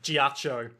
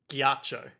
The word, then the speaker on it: ghiaccio: Oh, there was also a bit with Giaccio ranting, like, it's Is it- not fair, Polpo gets the money. Is it Giaccio or Giaco? Giaccio, Giaccio. because it's a double C, like Bucciarati.